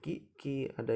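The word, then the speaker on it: きゃ: Jadi ini huruf ki ada ya kecilnya jadi kia. Jadi si ki-nya itu mati, dikasih ya jadi kia gitu. Jadi langsung kia, bukan kia tapi kia gitu.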